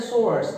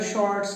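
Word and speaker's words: sorts: आउट ऑफ सोर्ट्स, आउट ऑफ सोर्ट्स, तो ये जो वर्ड है सोर्ट्स, इसमें हमें अपनी प्रोनाउंसिएशन पर पूरी तरह से तवज्जो देनी है, ध्यान देना है, अटेंशन देना है। हमने अगर शॉर्ट्स कह दिया तो प्रॉब्लम हो जाएगा। कई बार लोग इसे शाह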